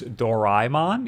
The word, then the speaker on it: Doraemon: I'm also a guy who thought this was pronounced Doraemon, and apparently it's Doraemon, even though it's not spelt like that at all.